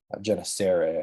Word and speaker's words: Gennesaret: I might be pronouncing that wrong, but I know this is a soft G here. Gennesaret, I think it is.